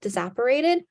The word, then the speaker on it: disapparated: in real life but it's pronounced disapparated it's just like he disappeared he teleported I think